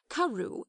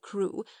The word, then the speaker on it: Crewe: Madame Pascal pronounced it as if it were Karu instead of crew, but that might merely be a matter of pronunciation.